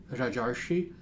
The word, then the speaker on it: rajarshi: also called rajarshi so Raja Rishi rajarshi is how you pronounce this compound phrase that is an individual